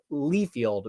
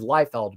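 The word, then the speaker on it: Liefeld: I say Lefield, but the way I remember it to how to say it is Lyfeld because I remember it's lie and that's how I remember how to spell it.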